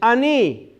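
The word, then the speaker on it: אני: So the first one for I is ani.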